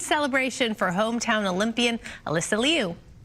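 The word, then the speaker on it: Liu: Oh, I think it's Alyssa Leu. I thought it was Alyssa Lou until this point, but maybe I haven't seen it wrong.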